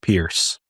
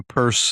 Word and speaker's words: Peirce: correct you and say it's Peirce, it's not Pierce. It's always pronounced like the like the the bag men don't pierce. I just I just showed my ignorance there. Yeah, it's okay. I'm certainly not a purse.